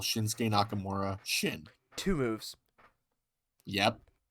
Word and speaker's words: Shinsuke: you just say like you can easily say shinsuke yeah that's two syllables shinsuke like uh like but cruz tosses